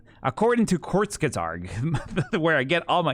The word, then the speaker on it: Kurzgesagt: Because there's like according to Kurzgesagt, where I get all my information.